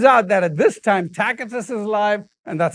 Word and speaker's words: Tacitus: And now it turns out that at this time, Tacitus is alive, and that's how you pronounce his name.